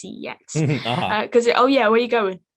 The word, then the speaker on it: CeX: Well, it's pronounced sex, but I like to say it's CEX.